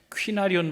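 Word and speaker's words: κυνάριον: 원 이라 퀸 아리온 큰 알이 이렇게 발음한 퀸 아리온 발음이 더 정확합니다 이콘 아리온 이라는 말은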